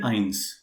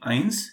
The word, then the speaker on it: eins: for um you know if somebody only say one he will be saying only ions and if it comes as a combination let's say 31 then we call it as ein raizish okay yeah yeah i know this yes so if it is alone it will be eins if it comes in with in connection with some other characters then it will be ironed well by the way